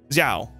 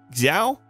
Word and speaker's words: Xiao: excellent allow me to introduce ziao wait no it's um chiao Xiao I'm sorry I was taught